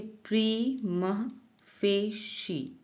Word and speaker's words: prima facie: इसका प्रोनाउंसिएशन भी नीचे लिखा है, देखिए प्रीमा फेशी, प्रीमा फेशी। ठीक है, प्रीमा फेशी, आपका प्रोनाउंसिएशन इसको ऐसे करना है, ऐसे प्रोनाउंस करना है, प्रीमा फेशी।